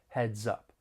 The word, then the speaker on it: heads up: come to an end when pronouncing this phrase you guessed it more linking may occur we can link the final consonant sound in heads with the beginning vowel sound in up heads up to give some one a heads